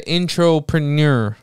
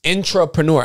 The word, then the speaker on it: intrapreneur: I'm here with the intropreneur. Entrepreneur again. I said it right. Intro. Yes. Intrapreneur. Again. Yo, my people, don't forget this line. Ready? My last thing I'm gonna leave with you with. Intrapreneur.